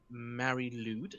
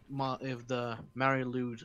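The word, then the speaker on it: Mari Lwyd: It's called the Marilude. I believe that's how it's pronounced.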